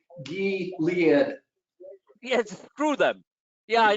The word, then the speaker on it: Gilead: According It's to not MSNBC, it's pronounced Gilead.